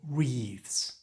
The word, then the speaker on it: wreath: Sometimes together with special flower arrangements like this which are called wreaths. Notice the silent W at the start of wreath.